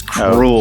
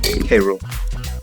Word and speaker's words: K. Rool: fan fiction world because he pronounced King K. Rool as cruel. King Cruel, What a yeah. fucking K. Rool. Say it with me. Say K Cruel? and say rule. Cruel? Sorry, Well, again, I nice mispronounced things. it one more time. How do you do it? K. Rule.